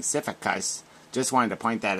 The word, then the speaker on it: Sisyphus: It's pronounced Sisyphus. Sisyphus. Sisyphus.